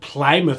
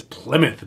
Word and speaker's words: Plymouth: do you say it it's not plymouth massachusetts it's plymouth massachusetts hey everyone my name is